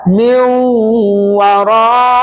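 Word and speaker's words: مِنْ وَرَاءِ: Nun mati tu masuk dalam wau dan nun mati tu tak payah bunyi lagi dah. Jadi bacaannya begini. Min dua harakat min warai ikut.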